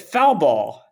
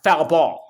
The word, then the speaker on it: foul ball: but he pronounces it foul ball. Uh-huh. Somebody who obviously isn't familiar with baseball, we pronounce it foul ball. It's like Right. both words are emphasized equally.